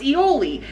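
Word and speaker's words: aioli: a shrimp and pasta alley i was like mom it's ioli i said you had me saying it wrong on the internet and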